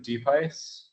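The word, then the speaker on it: Diephuis: Deepice. The name. Okay. And can you spell that last name, please?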